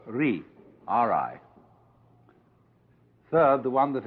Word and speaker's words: Ri: Second, the world that is called Ri, R-I.